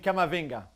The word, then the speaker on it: Camavinga: us more about eduardo inga oh you mean kamavinga that's what i said kevin yes that's what